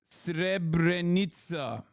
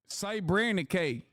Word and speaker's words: Srebrenica: as a genocide because it belittles the term, pronounced Srebrenica. Srebrenica.